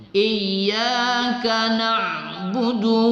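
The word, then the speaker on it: إِيَّاكَ نَعْبُدُ: Iyyaka na'budu. Salah. Du itu tidak panjang. Tidak ada kaidah hukum mat di situ. Jadi jangan dipanjang bacanya. Iyyaka na'budu wa iyyaka nasta'in.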